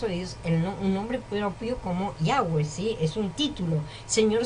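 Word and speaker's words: Yahveh: que tiene controle estás y su pronunciación es yagüe esto todo aplicar una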